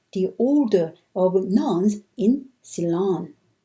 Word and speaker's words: Ceylon: The mission to Ceylon, I pronounced Ceylon in the previous slide, but maybe Ceylon might be more accurate.